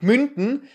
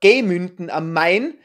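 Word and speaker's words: Gemünden am Main: dem das Festival stattfindet falsch ausgesprochen ihr hab gesagt münden richtig heißt es aber gemünnden am Main und dann habe ich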